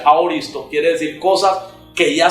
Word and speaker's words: aoristo: En el lenguaje griego de la Biblia, que es una palabra que se pronuncia aoristo, quiere decir cosas que ya sucedieron en la mente de Dios.